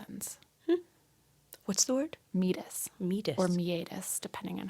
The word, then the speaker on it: meatus: have just ended the same place that our meatus ends. What's the word? Meatus. Meatus. Or meatus, depending on how you pronounce it.